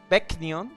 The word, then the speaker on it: Begnion: To the powerful Benyon Empire. Benyon? Dayan's future is now subject to the whims of... Wasn't that how we say it? Begnion? Begnion, yeah. Oh, yeah, that sounds about right. Benyon's occupation forces have gathered all Dayan men of